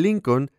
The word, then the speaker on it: Lincoln: n así que el lincoln tiene dos letras l cuando lea la palabra lincoln no pronuncie la segunda letra l un line reed de